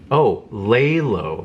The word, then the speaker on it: Lay Low: So, lay low, that's how you pronounce it.